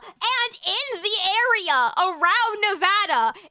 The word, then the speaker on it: Nevada: bit in Nevada and in the area around Nevada, it's Nevada. You don't pronounce it RKS, do you?